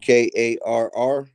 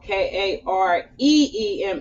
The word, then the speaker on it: Karima: You said Karr. No, Kareema, like Kareem, but put an A at the end of it.